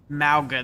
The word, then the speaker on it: Mauga: Mauga, that's how you say it.